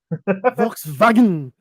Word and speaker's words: Volkswagen: Volkswagen, Wagen, Volkswagen, Volkswagen, Volkswagen. Uh, Volkswagen." and because their W sounds like an F, and uh, their V sounds like an F, and their W sounds like a V.